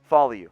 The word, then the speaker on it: Faoliu: He's a bit undersized from that style, and that makes things, Faoliu is how you pronounce that one. Faoliu.